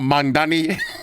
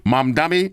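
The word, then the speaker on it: Mamdani: What y'all think about Mandani? over here. Hold. Let me say it correctly. Mom dummy.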